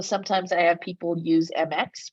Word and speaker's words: Mx: So sometimes I have people use MX, which is pronounced mix, instead of Mr.